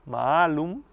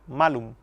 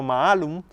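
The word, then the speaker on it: mālum: Pero quienes interpretaban por cuenta propia, en lugar de leer malum con la A larga, malum, la leyeron como si la A fuera corta en la pronunciación. Era malum. Y malum significa manzana. pero maalum significa malo.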